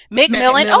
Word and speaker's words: McMillian: McMillian, okay.